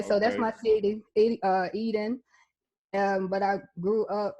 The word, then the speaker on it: Eden: i pronounce that right some people like to run it together like eating we would be like what like you eating some no e then e d e n so yeah so that's